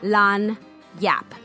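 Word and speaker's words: lagniappe: that as you want lonny up is pronounced as a French word lon Yap as a Cajun French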